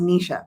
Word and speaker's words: Nisha: And it's pronounced Nisha, by the way. But Nisha. it's okay Okay. that you said Nisha because a lot of Okay. people also say Nisha.